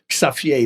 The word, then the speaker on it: Xavier: Xavier, that's how you pronounce it in Holland.